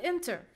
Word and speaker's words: enter: we have to see the peak the peak of our second syllable is the schwa sound the schwa sound is the weakest so we cannot stress it we cannot stress weak syllable so we will stress the first syllable get it okay I